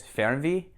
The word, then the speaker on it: Fernweh: Okay, so I did a little research and got the pronunciations right for one thing. And so it's Fernweh, which is like a far sickness or a